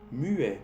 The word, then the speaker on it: muet: Muet, que es la traducción de muto, cuando no hablas. ¿Ves? Aquí en este ejemplo es ET a la fin, pero se pronuncia E.